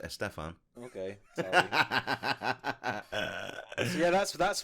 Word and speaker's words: Estefan: Gloria Estefan, pretty poor too. I believe it's pronounced Estefan.